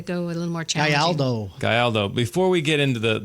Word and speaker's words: Gayaldo: Gayaldo. Gayaldo. I even Come tried on. spelling it out phonetically, and I did it wrong.